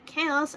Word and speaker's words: chaos: prove them wrong, to show how chows and chaos are pronounced differently. How they're pronounced different when pronouncing them in groups. Now, chaos is not in a group, so he already has the S at the end.